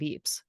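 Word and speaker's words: Ypres: like wait a minute battle of Eeps and it's Eeps is spelled y p s so of course you know nobody spells it like they say it um thanks France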